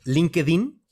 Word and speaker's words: LinkedIn: por ejemplo como en linkedin y linkin se pronunciaría en inglés linked-in es una plataforma es